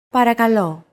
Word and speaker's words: Παρακαλώ: Παρακαλώ. Παρακαλώ. Chances are your pronunciation was pretty spot on. The P, R, K, and L sounds are practically identical to English.